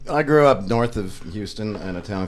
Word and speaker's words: Houston: Same shit, We're really against H's in Houston and Humble. We don't pronounce them. So, The silent H? Oh. Houston.